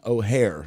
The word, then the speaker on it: O'Hare: name is mary john o'hare yes oh with an apostrophe and then hair like you're you know spelled like your hair so there is a